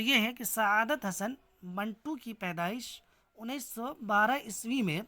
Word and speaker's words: منٹو: کشمیر کے منٹو ذات سے ہے۔ عام طور پر لوگ اس کا تلفظ بالکسر زیر یعنی منٹو کرتے ہیں، جو غلط ہے۔ ایک بار پھر سن